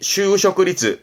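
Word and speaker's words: 就職率: 이때는 률자입니다. 그래서 발음이 슈쇼크리츠, 취직률의 슈쇼크리츠. 이 률자는 솔직의 솔이기도 하고, 그런 솔직의 솔 할 때는 소츠 발음, 확률의 률 할 때는 리츠 발음이라는 것도 챙겨보시고, 취직률의 슈쇼크리츠. 뒷글자가 임자, 취임하네요.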